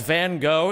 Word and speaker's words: Van Gogh: The artist that you know as Van Gogh is actually pronounced Van Gogh. I'm not kidding. Make the O more emphatic.